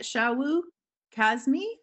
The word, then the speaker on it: Shawu Kazmi: Okay, so let's Shawu would like me to say his name. So is that the way we say it, Shawu Kazmi? Yes, good.